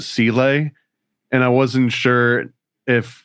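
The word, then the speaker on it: Seele: For example, in this movie, they don't pronounce it seal. They pronounce it cel.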